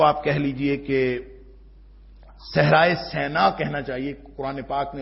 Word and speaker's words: سینا: ہیں، جس کو آپ کہہ لیجئے کہ صحرائے سینا کہنا چاہیے. قرآن پاک نے اس کا تلفظ یہی بتایا ہے، طور سینا، کہ وہ